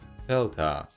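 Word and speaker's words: δέλτα: g like amma delta in the past pronounced with a plosive d today sounds more like delta because of that the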